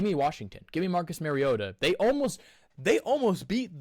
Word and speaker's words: Mariota: Or as the announcers are saying, Mariotta. Mariota. Like they thought he's been in the league eight years. They still find ways to mispronounce his name.